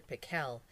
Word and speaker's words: Pickle: Actually, his name was Dr. Pickle, with the accent on the second syllable, but that wasn't why everyone called him Dr.